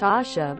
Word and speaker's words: Asia: not a country LOL very common polish name it's pronounced Asha but you spell it Asia am I